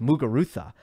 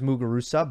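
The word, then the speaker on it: Muguruza: the same thing with mugarutha that's a z and I do hear sometimes mugurusa but in general the people who are pronouncing her name correctly are saying muga Rutha and if you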